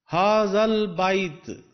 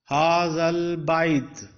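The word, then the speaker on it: هَٰذَا الْبَيْت: Both the alifs are omitted, made silent. Now lam is pronounced, not silent. Hazal bait.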